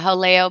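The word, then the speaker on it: Jaleo: Haleo. Is it Haleo? Yeah, Haleo by Jose Andres.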